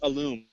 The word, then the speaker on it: alum: Although I pronounce it alum. Alum. And I think that has more to do with it has more to do with my Spanish than it does my English. But yeah, I pronounce it alum, and people are always correcting me. No, it's alum. It's like, well, yeah, you call it alum, I call it alum.